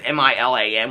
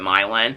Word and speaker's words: Milan: or four cities there's like milin which is m i l an which all us were pronounced Milan but they pronounced it milin and then there's uh verses which we would